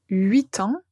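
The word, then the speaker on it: huit ans: Le nombre 8, on va juste entendre la lettre T.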